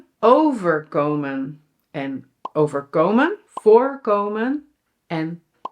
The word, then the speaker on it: voorkomen: "overKOMEN" (to happen to) "VOORkomen" (to occur/appear) & "voorKOMEN" (to avoid/prevent) Okay, so these are six verbs with different meanings. Well, for example, let's look at "VOORkomen" (to occur) "voorKOMEN" (to prevent).